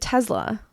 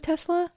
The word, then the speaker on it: Tesla: You say it with like a Z.